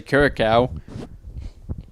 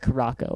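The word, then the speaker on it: Curaçao: though it didn't say blue it didn't say Curacao oh correct I'm not how you pronounce that uh I've been told that I've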